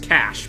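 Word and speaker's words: cache: the DIA cash cash I know it's pronounced cash but it's so easy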